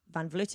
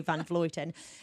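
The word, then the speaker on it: van Vleuten: Anna make fun fluting vanvleet and I say but Rosa's sitting next to me and I knew that she says done falutin so probably I should say it properly vanaf Luton and with Chloe Hosking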